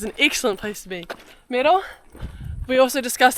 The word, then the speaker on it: Merel: Merel, we also discussed how to say her name. How do you actually say it? Merel.